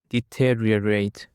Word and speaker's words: deteriorate: And now we have another word which is deteriorate. Deteriorate. The stress is on the second syllable.